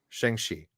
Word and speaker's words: Shang-Chi: very Shang-Chi. That's the proper And pronunciation.